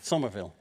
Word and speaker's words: Somerville: Then you leave PLAYDEAD to found another company called JUMPSHIP, and you released how do I pronounce this? Somerville. Somerville.